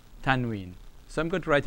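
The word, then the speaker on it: تنوين: noon has no vowel, so it's tan, tan. Wow, with a kasra is we. And you have the ya has nothing, alright, it elongates. So you get we, and this noon, n. Tanween.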